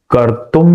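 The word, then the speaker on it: कर्तुम्: बन जाता है उसका करतुम मध्यग माशितः करतुम यहां ये जो अनुस्वार है उसका उच्चारण म के जैसा ही होगा करतुम मद योग करतुम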